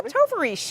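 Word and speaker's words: Tovarishch: You pronounce that name again for Yeah. Tovarish. Toarish.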